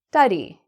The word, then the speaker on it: study: So it's not stu, it's not a oo sound, it's a sta, a. And just to remind myself, I'm just going to put a little A here.